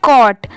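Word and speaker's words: caught: confusion clear कर लीजिए ये है कॉट सी ए यू जीी एच टी इसकी प्रोनंसिएशन है कट आप इसकी स्पेलिंग याद कर लीजिए सी ए यू जी एच टी इसे पढ़ते हैं कट ठीक है सी ए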